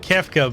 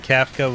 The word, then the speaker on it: Kafka: get it right well I said kefka but I'm guessing Kafka was the correct pronunciation he was a really